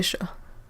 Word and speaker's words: chats: Like, generally in French, when something is plural, we don't pronounce the S at the end. So, where you say one cat, two cats, we say un chat, deux chats, it's the same thing.